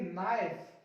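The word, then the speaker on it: knife: अभी के लिए हम लोग सीख रहे हैं एन से पहले के साइलेंट, इसको पढ़ेंगे नाइफ, नीड, नॉक, नॉट, नी, नी, नकल, नाइट, नॉब, नेक।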